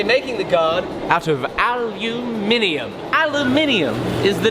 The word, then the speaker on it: aluminium: brit which means that all of you saying i'm pronouncing it wrong you've got it wrong it's aluminium baby the reason i'm using